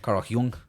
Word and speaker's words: Jung: Spelled with a J, not a Y. Carl Jung.